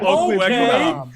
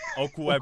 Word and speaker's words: Okwuegbunam: Okwuegbunam. Okwuegbunam.